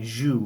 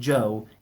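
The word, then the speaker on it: Zhou: it's ch au so you may be inclined to look at that and say jus or Chow but neither of these is corrected Jo is closer Jo may still be in poor pronunciation but it will do for those who are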